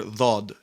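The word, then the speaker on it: ضاد: One of the names of Arabic, the poetic titles given to Arabic, is it's the language of the letter Dhad, or in Arabic, Lughat Dhad.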